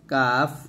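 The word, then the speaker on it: قاف: এটা হচ্ছে কফ, আর এটা হচ্ছে কাফ পাতলা, কফ মোটা, কাফ পাতলা।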